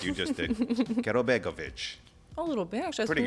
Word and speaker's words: Karabegovic: Karabegovic. Karabegovic. I like. It's simple. It's simple. I know. I'm going to have to channel Dracula if I'm going to say it like you just did. Karabegovic.